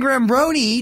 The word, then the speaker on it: Giambrone: Sean Giambrone.